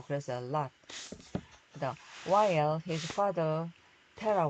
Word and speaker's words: Lot: 롯 이렇게 하는데 요거는 자모자 되면 오는 아 소리가 납니다. 발음상으로. 그래서 lot.